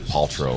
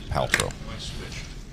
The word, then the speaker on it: Paltrow: He said Paltrow instead of Paltrow.